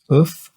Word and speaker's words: oeuf: And egg in French, oeuf. I think often pronounced in French without the F, but in English is the source of love.